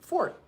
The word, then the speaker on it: forte: And I corrected him not rudely and I said, "Fort." And he says, "What?" And I said, "Fort, not Forte."